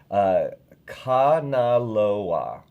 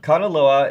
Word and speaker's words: Kanaloa: And thank you for the pronunciation. Kanaloa. Okay, that's his name. Did I say it right? No. Oh, I thought you were going to correct me. No. Kanaloa is the god of the sea and long-distance